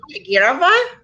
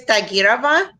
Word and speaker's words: Tagirova: For, Yes, so last name Tagirova. Okay, say that one more time. Last name is Tagirova.